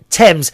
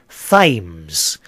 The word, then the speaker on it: Thames: Now, Thames... Now, here's something for the Americans. Thames, I know some of you say Thames.